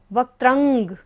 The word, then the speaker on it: वक्त्रं: वक्त्रंग, त्रा के ऊपर बिंदी और बाद में क्या है, क वर्ग है, तो बिंदी का उच्चारण क्या होगा, अंग की तरह, वक्त्रंग।